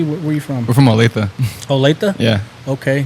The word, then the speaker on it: Olathe: Kansas Kansas City where you from We're from OA OA yeah okay not o like some people